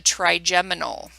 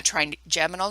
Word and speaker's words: trigeminal: Again, the only one we care about is the 5th cranial nerve, which is called the trigeminal.